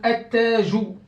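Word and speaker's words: التاج: A, ta, jou. Donc, ça, c'est tajoun. Tajoun. Vous voyez ici, regardez, combien de ta j'ai ici? Un seul. Alors que là, j'ai deux. Pourquoi? C'est à cause de la shadda.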